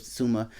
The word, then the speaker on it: Tsushima: i'm saying so that's basically i i kept pronouncing it um incorrectly but now it's ghost of suzuma uh and uh tsusumi basically is a island